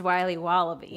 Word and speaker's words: Wiley Wallaby: wallaby Wally's will be wobba beats pronounced Wiley wallaby well it's very good it's called Wiley wallaby and it's delicious